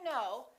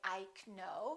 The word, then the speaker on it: know: silent letters as you know for example in the word no the k is silent you probably already know that we don't say ike no we say i know but a lot of